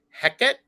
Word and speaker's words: Hecate: there Hecate oftentimes spelled h-e-c-a-t-e or h-e-k-a-t e um and um pronounced Hecate or Hackett there's slight variations and um she is